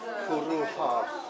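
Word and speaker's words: Cwrw Haf: Now, pronounce this for me. Kuruhav.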